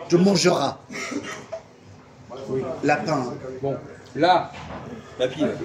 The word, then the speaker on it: mangeras: Non, tu mangeras. Tu mangeras. Lapin. Bon, là, La pile. le S, pourquoi on ne prononce pas le S de mangera?